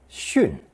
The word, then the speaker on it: 迅: Now that we've seen the character for flying, 飞, we can learn another one based on it, pronounced fourth tone, 迅, meaning swift, rapid, or sudden.